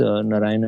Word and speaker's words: Narayanan: available on LinkedIn uh my full name is Naran uh that's m r a l i